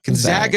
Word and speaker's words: Gonzaga: is now joining I said it right right Gonzaga yes Gonzaga is now joining the Pack 12 as a